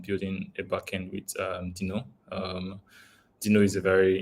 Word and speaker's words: Deno: discussing no um sorry Deno or Dino as it's pronounced um after that we